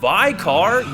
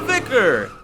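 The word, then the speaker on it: Vicar: I didn't forget Amelia no you're not viar you're vicer so vicer Amelia when it comes to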